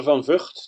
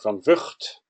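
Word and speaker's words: van Vugt: My name is van Vught, that's how I pronounce it. You can try pronounce it in your local language if you want to. Most people don't succeed, except for the Scots and the Chinese, who are capable of saying van Vught.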